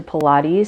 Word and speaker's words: Pilates: a quick introduction to Pilates so if you're completely brand new and you didn't even know how to say the word then you've just learned it it's Pilates and it's the last